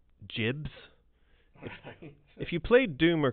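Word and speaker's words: gibs: a concept in there called Jibs or Gibbs. There was sort of a GIF battle over how that was supposed to be pronounced. But we are now... Jibs. You say Jibs.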